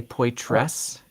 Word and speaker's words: Poythress: I've been pronouncing it like an unaspirated or an unvoiced, what was it, alveolar dental fricative, Poythress. But did you just say Oh, Poythress? yeah, both are Okay, correct. both are correct.